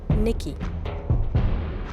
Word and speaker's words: Nike: It's actually pronounced Nikki.